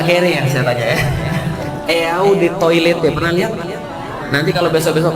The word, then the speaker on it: eau de toilette: Eau de Toilette, pernah lihat? Nanti kalau besok-besok main ke mall, lihat-lihat aja kan, nggak bayar ya. Sama banget sih Ustaz. Eau de Toilette artinya adalah eau de toilet bacanya.